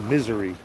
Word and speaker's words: Missouri: You can pronounce it misery.